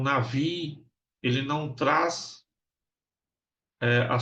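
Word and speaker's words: נביא: aí que é Navi algum às vezes vai ver Nabi aí mas a pronúncia correta é Navi tá o Navi é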